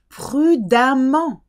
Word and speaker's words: prudemment: Prudemment. Don't ask me why there's an E in the middle and it's pronounced like an A, but it is. Prudemment.